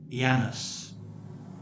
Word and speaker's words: Janus: get his name from the Romans pronounced his name ianis there are several Latin